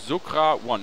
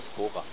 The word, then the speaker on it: Skora: Das ist Saleh und Sokra One, wenn ich das richtig ausgesprochen habe. Hallo, das heißt aber Skora.